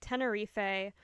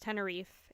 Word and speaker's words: Tenerife: Okay, now we have the Tenerife, or depending on where you may live, pronounced Tenerife airport disaster.